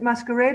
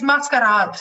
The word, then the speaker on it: Mascarade: The Mascarade, do you pronounce it Masquerade or Mascarade? It's Mascarade, yeah.